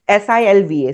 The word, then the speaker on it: Silva: with with a hyphen oer that's how it's pronounced Jose s i lva Silva if you go and you find these